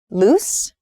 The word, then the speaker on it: loose: You can hear maybe the difference in vowel sound. Loose and lose.